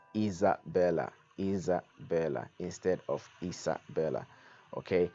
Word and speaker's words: Isabella: And the pronunciation, the S actually is silent. Um, but a Z, you sound the S like a Z.